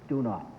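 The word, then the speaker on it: Donat: How do you pronounce that, sir? Do not.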